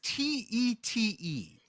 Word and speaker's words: Tête: Tate. That last word is Tete.